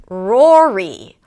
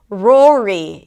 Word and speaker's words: Rory: We start with an R sound, then it's the 'or' as in four. So R, and then 'aw' - keep the tongue down. And then another R - round the lips, bring the tongue up and finish it up with a high E - pull the lips to the sides of it.